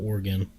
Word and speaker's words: Oregon: Just say it like you would say it in Spanish. Oregon.